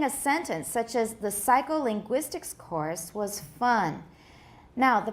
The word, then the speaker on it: psycholinguistics: Psycholinguistics. Which one sounds like it has more stress? The first or the fourth syllable? The fourth, right?